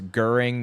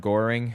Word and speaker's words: Göring: it's Göring, not Goring. Yeah, I know. Well, it's Gilling, actually, but I'm pronouncing it like an American, so forgive me.